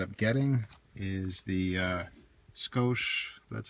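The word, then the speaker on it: Scosche: Uh the kit I ended up getting is the uh Scoch, that's how you say it, 70-1761.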